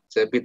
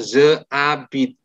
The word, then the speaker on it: j'habite: J'habite à Paris. Jangan pernah ngomong je habite ya. Bacanya j'habite. Oke?